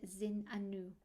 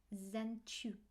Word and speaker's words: Zenchu: And then I asked Isis, can we use the word Zin Anu? Again, something else that's in the emerald tablets. She says, that's not how you say it. You say it Zenchu.